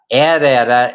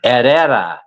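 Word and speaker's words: Herrera: Daniela Eda is the proper pronunciation. Eda, but it's spelled H E R R E R A.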